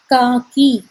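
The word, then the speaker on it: కాకి: Crow in Telugu is known as Kaki, K-A-A-K-A, K-I, Ki.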